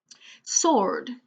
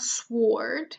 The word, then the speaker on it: sword: Sword. Same thing. It's not sword. It's S-O. So. Sword.